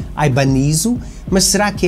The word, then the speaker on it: Ibanez: Porque a marca é japonesa, a Ibáñez em japonês pronuncia-se Ibanez, mas será que é mesmo japonesa?